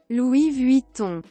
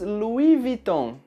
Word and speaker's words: Louis Vuitton: Louis Vuitton. No Brasil, nós falamos Louis Vuitton. Bastante parecido com a original, mas algumas pessoas pronunciam a primeira palavra como o nome Louis.